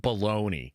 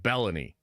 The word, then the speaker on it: Belloni: I got to figure out how to say his fucking name better, because his name isn't Baloney. I think it's like Belloni.